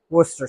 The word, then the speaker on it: Worcester: pronounce it correctly, when they actually just call it Worcester sauce.